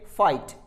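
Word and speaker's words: fight: तो वहां पर हम जी एच को प्रोनाउंस नहीं करते हैं, इट्स ए फाइट।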